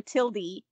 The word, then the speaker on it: tilde: google dictionary says that it is pronounced tilda with a schwa since when since google but also i don't trust like google wikipedia says it's either tilda or tildy can we start writing